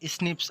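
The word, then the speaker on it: SNPs: Differences या single nucleotide polymorphism pronounced as स्निप्स occur in humans.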